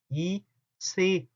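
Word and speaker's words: ICE: 그 중에 여러분들 이체, 이체라고 말하는 것들이 있어요. 근데 사실은 이체에입니다. 이체에, 이체하고 달라요. 발음 자체도 이체에, 인터시티 익스프레스거든요.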